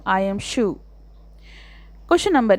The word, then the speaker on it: Scheu: Answer, the correct pronunciation of the poet's name is Scheu.